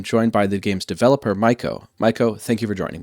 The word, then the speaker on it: Myco: Yes, Myco is pronounced Myco, and it's from a bacteria called Mycoplasma. And Gnorp is indeed pronounced Gnorp.